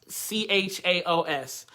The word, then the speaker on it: chaos: I use the word chaos, chaos. But the K, the phoneme is a K, right? So the phoneme is a hard C sound, okay?